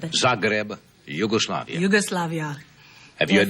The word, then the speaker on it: Zagreb: recently returned from did I pronounce it right said grab yes Zagreb Zagreb Yugoslavia Yugoslavia have you